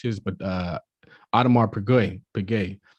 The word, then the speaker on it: Piguet: but uh audemars piguet piguet this is how you pronounce it but like the reason